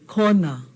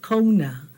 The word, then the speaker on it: Kona: Okay, this is not an O, this is an O. Okay, like in kona, not kona. Kona, right? Hear that O? Flat O.